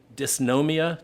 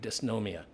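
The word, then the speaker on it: Dysnomia: It's called Disnomia. D Y S N O M I A. Disnomia.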